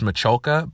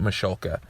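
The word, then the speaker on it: Michalka: Even though in some of the bumpers the the announcer guy says Machuloka, but they pronounce it Machulka.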